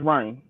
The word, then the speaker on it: Ryne: Yeah, no D, just Ryan.